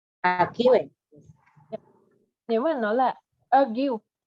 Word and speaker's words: argue: Nếu mà nó là argue, nếu mà nó là chỉ có chữ ue thôi thì mình sẽ đọc là trọng âm thứ hai, argue.